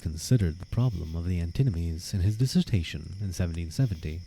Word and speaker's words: antinomies: K called them antinomies antimonies sorry antinomies not antinomies antinomies I believe is a proper pronunciation threaten to undermine the